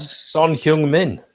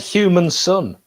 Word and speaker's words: Son Heung-min: Son Heung-min. It's not much different to what I said anyway. Just you said human son.